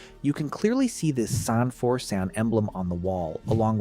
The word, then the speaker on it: San4San: name right on, because it's easy to mishear. It's spelled S-A-N, the number 4, then S-A-N, San for San.